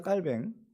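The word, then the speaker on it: Calvin: 봐야 한다는 거예요 종교개혁자 깔뱅 깔뱅이라고 하는 이유가 있어요 보통 이제 칼빈이라고들 하시는데 영어 발음이죠 빨갱은 스위스 독일 이쪽에서라고 자랐어요 그쪽 사람들은 깔뱅이라고 불렀어요 그러니까 자기 이름 부르는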